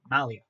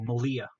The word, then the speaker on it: Malia: So, okay, like Maria, but with an L. So Malia.